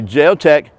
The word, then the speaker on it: JeoTec: spain by the way they did tell me my pronunciation was correct it is the heart of j pronunciation but we're talking about the geotech number 21.